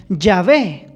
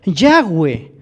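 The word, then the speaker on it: Yahweh: el nombre de dios algunos le han llamado llave en lo personal yo creo que el nombre es ya ve ya ves el nombre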